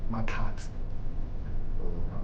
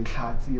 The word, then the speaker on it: Makati: you know uh your name could be Makati but the if if you try and pronounce it without putting any effort in and say kati or something else I'd feel offended that